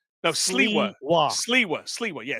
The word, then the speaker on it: Sliwa: this play out because I said something about Silva or Sliwa. I can't fucking say his name. Silva. I think right? No, Sliwa.